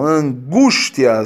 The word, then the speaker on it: angústia: Bom, angústia, sílaba tônica, vou pegar aqui a canetinha, olha, a sílaba tônica é essa aqui, certo? A penúltima.